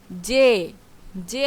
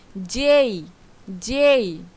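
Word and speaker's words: J: যে যে হবে না। এটার সঠিক উচ্চারণ হবে কি? যেই যেই সঠিক উচ্চারণ কি হবে?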